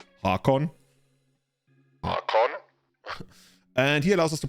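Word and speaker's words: Haakon: hakon hakon he has he gives me like a norwegian vibe and like every time you speak like a non-english language you're supposed to like properly pronounce things without like this weird english stuff where you just like often have to learn by heart so he's more like hakon and he allows us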